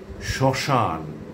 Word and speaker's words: শ্মশান: যদি শব্দের প্রথম ব্যঞ্জন বর্ণের সঙ্গে মফলা যুক্ত থাকে তাহলে সাধারণত তার কোনো উচ্চারণ হয় না।